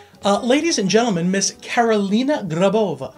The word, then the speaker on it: Grabova: Ladies and gentlemen, Miss Carolina Grabova. Did I say that right? You said it right. Am I supposed to roll the R? Oh, that was so good. Grabova.